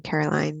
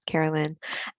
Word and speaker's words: Caroline: I'm celebrating that Caroline is here joining us this evening, and that she pronounced her name Caroline, not Carolyn. And I'm mediocre happy about I took on a project at work.